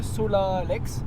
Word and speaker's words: Solalex: s'appelait le refuge de Solalex Solal ouais Solal ça c'est bien franchement on prononce pas les X en su un peu